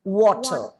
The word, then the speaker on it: water: way drink some water in the word water again you have to round your lips you have to take the plosive term and the r is silent it is water okay so i want